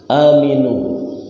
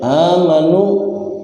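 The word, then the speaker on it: آمِنُوا: legu wustho lebih Navy aminu nih kalau dalam ilmu bahasa Arab ilmu Nahwu VN amarah Maka kalau ada yang salah baca aminu dibacanya amanu perubahan Hai amanu seharusnya aman dibaca Amin salah walaupun cuma salah baris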